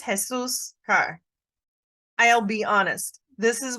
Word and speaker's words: Jesus': And sometimes people will try to say Jesus's. This is a little bit tricky in pronunciation. This is Jesus' car.